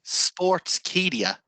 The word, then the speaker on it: Sportskeeda: Is that Sportskeeda? That's the one, yeah. I always pronounce it as Sportskeeda.